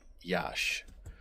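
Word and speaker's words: Iași: I believe it's pronounced uh Yash. I think it's I si, but I think it's pronounced Yash.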